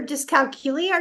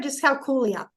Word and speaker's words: dyscalculia: It's either dyscalculia or dyscalculia.